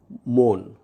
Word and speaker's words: মন: আদ্য অধ্বনি উচ্চারণের পরবর্তী নিয়ম হলো এক অক্ষর বা সিলেবল বিশিষ্ট শব্দের শুরুতে অ এবং পরে দন্ত ন থাকলে উক্ত অয়ের উচ্চারণ সাধারণত ওকারান্ত হয়। যেমন মন বা বন।